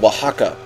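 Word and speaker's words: Oaxaca: know about this uh there's this place called Waka okay Waka right and it's spelled o a x a c a Waka okay just sure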